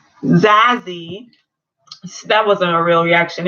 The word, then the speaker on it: Zazie: And everyone's just kind of like, oh, they just, well, okay, the Zuri, or the Zadie, I want to say her name correctly. Zazie.